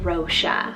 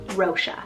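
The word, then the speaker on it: Róise: next one i have the name rosha spell r o with afada i s e rosha there is another spelling for this one rosha with the s-i-n ending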